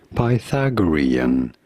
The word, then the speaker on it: Pythagorean: let's hear it how do you say it Pythagorean Pythagorean yeah Pythagorean the question is Pythagorean numbers